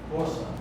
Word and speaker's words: força: Por isso também é aleatório e como vocês pronunciam essa palavra E aí como que você fala essa aqui força força e essa ruim suar porça não é